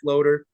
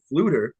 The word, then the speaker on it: Floeter: It's spelt Floater. I think I heard somebody at PSL maybe say Fluter, and then you finally corrected me last night. It's Floeter, Floeter Fitness on Instagram.